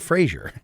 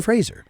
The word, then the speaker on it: Fraser: No, it's not Frraasier. It's Brendan Frasier. Nope. It's not spelled like Frasier.